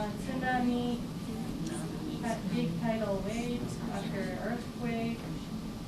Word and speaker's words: tsunami: So if you have hard time pronouncing sound at the beginning of the word, think about cats.